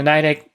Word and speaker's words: Nidec: I think Nidec is the way to pronounce it. I'm probably pronouncing it wrong.